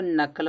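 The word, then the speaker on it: knuckle: इसको नकल पढ़ा नकल माने उंगली का जोड़ होता है। तो नकल में के साइलेंट होता है।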